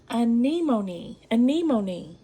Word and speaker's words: anemone: About 40 of y'all told me how to pronounce this. Anemone.